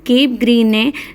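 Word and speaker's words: Cap Gris-Nez: Okay, the pronunciation is Cape Greene.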